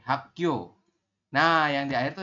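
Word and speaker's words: 학교: Kalau yang ini, yang giok di akhir. Ya, ini giok di akhir. Dibacanya K. Berarti hak. Setelah hak, giok ditambah dengan yo. Berarti yo. Seperti ini. Hak yo.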